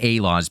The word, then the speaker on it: A-Laws: And I want to keep seeing A-Laws because there's an A in front of it, but when I hear them pronounce it, it's A-Laws. But again, that is Titans right there.